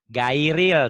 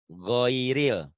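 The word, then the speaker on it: غير: Bunyinya bukan gairil. Tapi di sini GHO go goiril. Goiril ya bacanya. Goiril. Tuh, goiril. Goiril. Bisa dipahami ya? Goiril. GHO. Bukan gairil, tapi goiril. Ada unsur O-nya.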